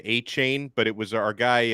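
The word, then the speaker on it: Achane: at Texas A M I always heard it said a chain but it was our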